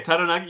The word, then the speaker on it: Taranaki: That's nice the way you rolled the R. That was good. That's good. Okay, Taranaki, yep. He's the nephew of All Black Kieran Crowley. Played in the NPC with Taranaki, who actually won it